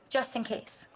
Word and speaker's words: JustnKayse: that play on words Justin and caselyn just in case but it's spelled j u s t n k a y s e nice very very creative